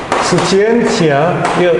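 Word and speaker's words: scientia: 아는 것이 힘이라고 말했던 사람이 프랜시스 베이컨인데, 그게 이제 스치엔티아, 라틴어 그대로 읽으면 됩니다. 발음 기호로 그대로 읽으면 되는데, 스치엔티아 에스트 포텐티아.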